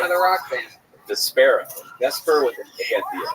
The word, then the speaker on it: Despera: Despera.